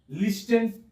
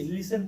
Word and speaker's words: listen: अब देखिए LISTEN, लिस्टन। क्या लिखा हुआ है? लिस्टन। तो उच्चारण भी सही होना चाहिए। लिसन पढ़ते हैं इसको, क्या पढ़ते हैं?